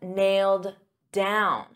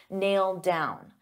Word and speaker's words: nailed down: But we have nailed down. So because I have a D sound on down and these two go together, I'll pronounce it as one and you'll only hear one D sound, nailed down.